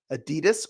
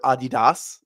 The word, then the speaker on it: Adidas: I think it might actually be Adidas, but we've all Americanized it to Adidas, which I definitely am an Adidas person.